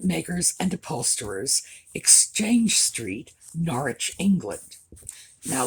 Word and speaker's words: Norwich: and upholsterers exchange street norwich england now this is norwich by the way when it's in england it's norwich when it's in connecticut it's norwich which is our difference in pronunciation i have always loved